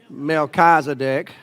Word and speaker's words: Melchizedek: Then, in Hebrew, you'd say Melchizedek. I grew up in Alabama, so we say Melchizedek. Okay, so however you want to pronounce it.